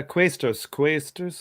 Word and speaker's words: Quaestors: Is that how you pronounce that? Quaestors? Yeah, Quaestors.